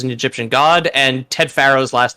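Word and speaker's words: Faro: oh pharaoh like that i was thinking f-a-r-o for whatever it is it is written that way but phonetically it is still pharaoh yeah no that's a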